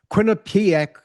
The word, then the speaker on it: Quinnipiac: I said that very carefully, Tim, because Tim knows I have this almost lifelong mental block about saying Quinnipiac. It often comes out when I'm on the air as Quinnipiac, Quinnipiac, Quinnipiac, it's just one of those words.